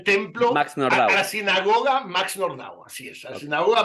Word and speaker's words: Nordau: dice Max nordau no no se dice nordo se dice nordau era húngaro no era francés Okay esto lo dije